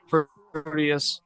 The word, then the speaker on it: Proteus: And Dirty Dango, I assume, is Proteus, that's how you say it. Oh, like Proteus.